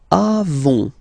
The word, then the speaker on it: avons: Then nous avons, final S not pronounced, avons.